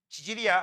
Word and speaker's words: 지질: 지질이라고 합니다. 발음 조심하세요. 치질도 아니에요. 갑자기 왜 똥꼬에 병난 게, 홍난 게 왜 나와? 지질이야. 알겠어?